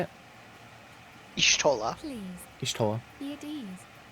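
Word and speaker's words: Y'shtola: Ishtola.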